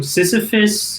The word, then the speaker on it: Sysifus: specifically um yeah so sisyphus uh is a misspelling of the greek myth uh sisyphus or it's it's pronounced the same but it's spelled a little different okay um you might